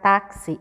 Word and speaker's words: táxi: Porque quando a gente fala, quando a gente pronuncia a palavra táxi, o X ele tem uma sensação de um som como se a gente estivesse falando o C e o S.